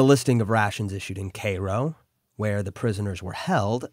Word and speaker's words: Cairo: listing of rations issued in Cairo, I was mispronouncing that before apparently, but a listener corrected me. The listing of rations issued in Cairo, where the prisoners were held, accounts for 14,623 Confederates.